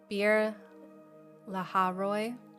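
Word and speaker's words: Beer-lahai-roi: and I try to figure out how to pronounce it, and then I do the study and I forget. It's Bir Laharoi.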